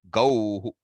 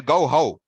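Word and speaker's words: गौः: The vowel which precedes the visarga will decide how that visarga is pronounced. So you cannot say gauhau, Ramaha, right? Harihi. So gauhau. No, it doesn't work that way.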